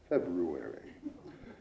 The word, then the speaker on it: February: on the Qt reminded me that it is pronounced February and those two ladies would be and they